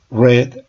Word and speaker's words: read: observen britt reid ríe el pasado se pronuncia como si fuera el color rojo read red ruiz y volvemos nuevamente